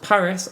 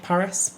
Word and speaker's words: PVRIS: say is called Bruce what I believe is pronounced Paris and the album is called Evergreen yeah another Will Young song Oh any preconceptions of Paris nope never even heard